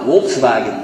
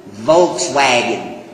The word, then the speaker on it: Volkswagen: That's what they call it, Volkswagen. We pronounce it Volkswagen. It's a reversal of the letters.